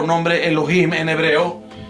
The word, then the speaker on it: Elohim: en morado Cómo es como se digamos se pronuncia en hebreo o cómo se transliteracion uncia cómo suena Elohim Elohim Así es que ese es el nombre de